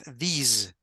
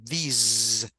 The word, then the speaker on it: these: Now, this is this, and this is these. Vibration at the end, these.